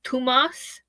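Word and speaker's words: Tuomas: Thomas, it's Thomas or in Finland because he's from Finland. It's tumas harp and holo pain.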